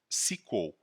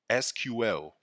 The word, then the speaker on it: SQL: for structured query language which can be pronounced as SQL or SQL it is the domain